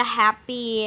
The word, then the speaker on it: happy: Contohnya ini ada happy, H dengan P, kemudian Y dengan low, use dengan full, for dengan mal. 2 suku kata, maka yang ditekan adalah first syllable, suku kata pertamanya. Happy, yellow, useful, formal, kayak begitu. Happy, I'm happy, I'm so happy.